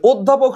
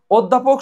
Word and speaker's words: অধ্যাপক: অ এর মত থাকবে অধ্যাপক শব্দটি উচ্চারণ হয় কি অধ্যাপক শব্দের অধ্যাপক শব্দ দেখো অধ্যাপক শব্দের অ আছে না এই অ কিন্তু ও এর মত হয়ে যায় তার মানে এটা অবশ্যই